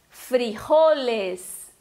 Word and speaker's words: frijoles: Só que para ser frijoles é uma proparoxítona, levaria acento no I, do fri. Então não tem acento, a pronúncia é frijoles.